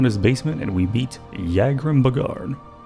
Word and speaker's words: Yagrum Bagarn: basement and we meet Yagrim Bagarn. Now I know how to pronounce his name, because he has unused voice dialogue. Here, take a listen. A visitor. What brings you to visit Yagrim Bagarn, Master Crafter and last living dwarf?